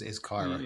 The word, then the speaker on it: CAIRA: And then if you look at CAIRA, I think that's how you say it. We had this conversation. Yeah, that's how it's been pronounced in the calls that I've been on is CAIRA.